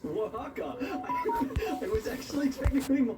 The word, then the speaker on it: Oaxaca: Mexico, Osaka, for anyone who actually wants to know how to pronounce these things. No, wait, scratch that. It's Oaxaca.